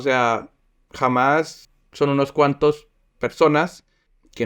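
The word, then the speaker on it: Hamás: grupo que se llama jamás eh Así se pronuncia en español no es kach y ellos eh se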